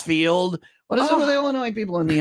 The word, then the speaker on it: Illinois: is silent like on Illinois the S is silent okay it's not fine line Wine and Liquors is it not Jewels either or Aldi or Soldiers Field what is it with Illinois people in the S